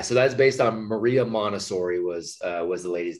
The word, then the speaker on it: Montessori: A lot of people use the Montessori name and don't necessarily. I even said it wrong. I said Montessori, but it's Montessori.